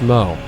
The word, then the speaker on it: Smough: No, it's not whoa, it's pronounced smo.